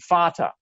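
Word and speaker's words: Vater: English we say father in German it's spelled with a V but it's pronounced the same letter is is still that F sound fata Mother m you can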